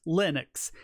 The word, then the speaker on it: Linux: I will always respond but Linux is always Linux he doesn't care how